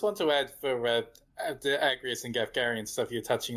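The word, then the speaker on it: Agrias: Is the way you say her name Agrius? Agrius, I think. It's Agrius? That's how you pronounce it. Okay, Agrius. What are the voice actors doing? I don't think I've heard anyone say They're saying Agrius. They're saying Agrius? Okay. Just want to confirm.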